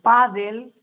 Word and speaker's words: pádel: Pero la parte gráfica, o sea, el cómo se escribe, se tiene que atender, termina en consonante L, se carga la voz en la penúltima sílaba y exige, por supuesto, una tilde.